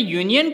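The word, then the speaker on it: union: word है यूनियन दोस्तों यूनियन के प्रोनाउंस की शुरुआत होती है यू से और यू एक व्यंजन है तो इसके आगे भी आर्टिकल ए लगेगा अ यूनियन दोस्तों अगर आपको सिंपल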